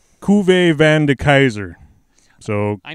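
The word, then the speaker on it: Cuvée: Yeah, it's a Cuvee beer. So Cuvee, not the Couvee.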